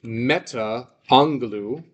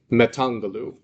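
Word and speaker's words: μετ' ἀγγέλων: And I wouldn't say meta angaloo. I'd say metangaloo.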